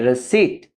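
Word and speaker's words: receipt: दूसरा वर्ड है हमारे पास रसीट। इसको रॉन्ग प्रोनाउंसिएशन की जाती है रसीट। पी टोटली साइलेंट है इसमें। रसीट, रसीट।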